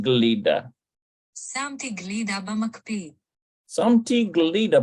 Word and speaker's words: גלידה: Okay, so Shamati, no, it says Shemti. It's probably Shemti. Shemti. Yeah, Shemti Galida. שמתי גלידה במקפיא, שמתי גלידה במקפיא, Looks like it's Samti Glida.